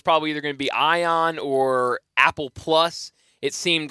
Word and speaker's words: Ion: of get down to the either, help me pronounce it, Jay Ion. Ion, you nailed it.